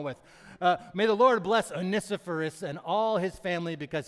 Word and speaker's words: Onesiphorus: may the Lord bless, who's got the pronunciation out there, huh? Onesiphorus. All right, we're going with Onesiphorus. I checked it in the Greek. It was Onesiphorus. So that's what we're going with.